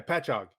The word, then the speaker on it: Patchogue: Patchogue.